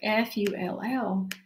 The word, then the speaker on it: full: But this word here, F-U-L-L, is pronounced full. Like after I eat a big meal, I feel really full.